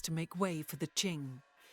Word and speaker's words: Qing: way for the Ching was that a j noise or a CH noise was it Ching or was it Jing wondering how I'm supposed to pronounce this word is this the word that people were saying it's similar to where phonetically English speakers get China from so ching all right welcome